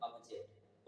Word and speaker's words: object: को बोल देते हैं, बट अगर अच्छा प्रोनाउंसिएशन की बात करें ना तो ओ का साउंड जो होता है ना अ निकलता है, ठीक है, इसको क्या बोलेंगे सर हम लोग, ऑब्जेक्ट।